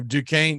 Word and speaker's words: Duquesne: I definitely added a syllable and had that mispronounced, so I'm glad I didn't embarrass myself.